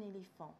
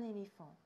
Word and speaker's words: éléphant: Un éléphant. It's the same word than in English, you just pronounce it the French way. Un éléphant.